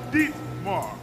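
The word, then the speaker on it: Dimitar: lead angel spas off she told me that I did not pronounce Ditmars name right she's she so she gave me a little instruction so I have to say deep Mar Sabatino it's not good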